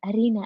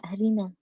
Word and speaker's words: Aryna: Now I know how to pronounce her name, right? I'm just gonna say Aryna, Aryna.